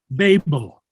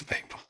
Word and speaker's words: Babel: by the way the the pronunciation of the word is Babel Babel yes Babel we we say Babylonian